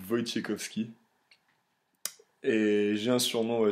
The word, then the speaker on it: Wojciechowski: Comment on doit prononcer mon nom? Bah, c'est plutôt simple, c'est Wojciechowski.